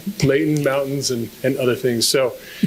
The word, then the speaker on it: Layton: of heaven as well, especially when you pronounce it without the T. Layton, mountains, and other things.